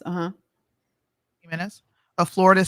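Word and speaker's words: Gimenez: Carlos himz is that how you say it heenez uhuh heenez a Florida said that he would not support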